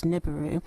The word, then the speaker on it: Nibiru: um well I guess nibu if we were to use the English dialect I guess the sounds phonetically would come up as niburu so please tell us